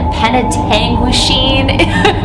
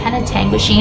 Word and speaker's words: Penetanguishene: And also too, this house is located in Penetanguishene. It's taken me a few tries to say it right, but that's a town in Ontario, Canada. Penetanguishene. I always think of penitentiary, like Eastern State Penitentiary.